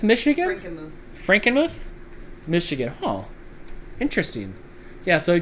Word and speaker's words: Frankenmuth: That's pronounced house. And that's Frankmouth, Michigan? Frankenmuth, Michigan.